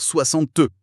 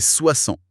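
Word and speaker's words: soixante: Oui, le S de 30, le T de 40, le X de 60. Tous mués. Il faut vraiment faire confiance à son oreille plus qu'à ses yeux. En fait, c'est le piège redoutable pour les apprenants. On lit 60 avec ce X et notre cerveau a envie de le prononcer, de dire 60 mais non, c'est 60.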